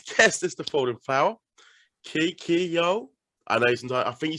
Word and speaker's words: Kikyo: Pretty much, because I tell them, I'm like, look, it's Kikyo.